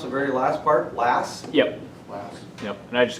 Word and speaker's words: Lass: the kind that you would shoot hyphen l-a-s-s how do you pronounce the very last part last yep yep and i just go by